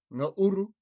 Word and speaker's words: ngauru: Ngauru is spelt N-G-A-U-R-U.